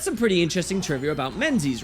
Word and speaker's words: Menzies: men's a lot now how do you pronounce his name is it men's as you'd expect and in my opinion sounds cooler or is it Mingus in reference to these old Scottish Highland Clans now we discussed this